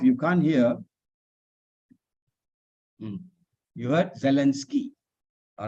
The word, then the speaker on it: Zelensky: So it's Zelensky. So I heard you said sky just now. So I was thinking, how am I to get you to understand that it is not sky, but ski.